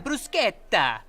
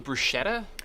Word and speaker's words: bruschetta: mozzarella sticks, and the bruschetta, and the garlic bread. That's me. You mean bruschetta? Yeah, bruschetta. Why are you saying it that way? That's how it's supposed to be pronounced.